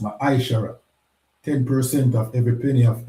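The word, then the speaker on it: מעשר: It means tenth in the Hebrew and it's pronounced Ma'aishara.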